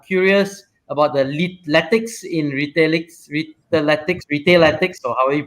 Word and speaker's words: Retailetics: But we played around with the spelling, because if we had used Lytics, a lot of people would have pronounced it as Retailitics, right? And we didn't think that was good.